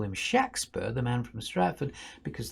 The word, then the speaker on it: Shakespeare: write at all but there's never a long a shake sound it's shaq shakspen there's his name there are